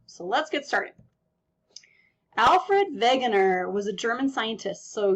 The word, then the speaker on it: Wegener: let's get started Alfred Wegener was a German scientist so you kind of pronounced the W with a V type sound um he studied meteorology